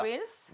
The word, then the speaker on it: nostrils: nostrils? 나 여기다가 강세를 주면서 입모양이 벌려지면서 한번 해볼게요. nostrils.